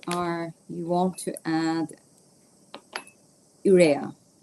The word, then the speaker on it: urea: Uh, urea. Yeah, it's it's called urea. So, uh, it's spelled U as in uh U-turn, uh, R as in Richard, E as in England, A as in apple, ura.